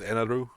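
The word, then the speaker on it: Enel: the translation i think the official one still calls him inelle although it's like some people still refer to it as eneroo which i guess closer to would be the japanese pronunciation but i'mma call me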